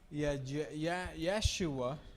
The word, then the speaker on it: Yeshua: Yeshua, Yeshua en el hebreo.